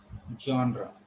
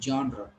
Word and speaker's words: genre: Yes, it will be pronounced as genre. Okay, try to understand spelling. If I say the spelling, I may call it genre, genre, or something like this. But it is jaw. Okay, it's genre.